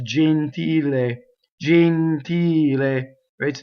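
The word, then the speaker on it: gentile: we tend to open we always say genteel right no it's Jean teal a jean teal a way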